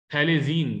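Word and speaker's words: phthalazine: और थैलेजीन P silent है, थैलेजीन इसका आईपीसी अप्रूव्ड कॉमन है।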